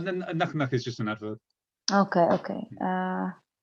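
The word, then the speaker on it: なかなか: Like that, you say nakanaka, just as the way you said it, nakanaka.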